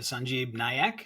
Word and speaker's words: Sanjib Nayak: to the gr podcast and today I have sanjib nyak is that correct did I pronounce it correctly sanjib yes that's right great